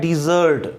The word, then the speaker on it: desert: और एक होता है DESERT वर्ब, उसका प्रोनाउंसिएशन होता है डिज़र्ट। उसका प्रोनाउंसिएशन क्या होता है? डिज़र्ट मतलब छोड़ देना।